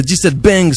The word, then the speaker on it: 17 Bangs: Alors le 17 Bangs, je l'ai bien prononcé, c'est important de prononcer bien le Bangs.